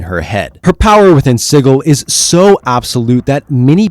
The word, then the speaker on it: Sigil: wondering why in the world I'm calling it sigle and not sigil right well apparently cook mispronounced it and they just ran with it now if you want to continue calling it sigil I won't have a problem with it but